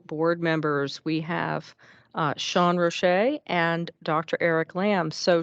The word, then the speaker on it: Rochette: We have Sean Rochette and Dr. Eric Lamb. So Sean, would you like to introduce yourself to the group? Yeah, and so the last name's pronounced Rochette, just to clarify.